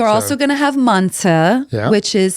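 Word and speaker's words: manti: So, we're also going to have manta, which is spelled m a n t i.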